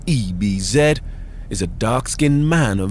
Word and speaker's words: Ebbs: abused on the internet Ebenezer or Ebbs pronounce ebz is a dark-skinned man